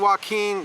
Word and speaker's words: Joaquin: On Friday, September 17th, San Joaquin, see, I said it right, Joaquin County District